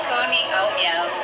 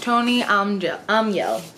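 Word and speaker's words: Tone Almhjell: Hello, my name is Tony Aumiel, and I wrote The Twist Rose Key. Okay, her name is Tony Aumiel.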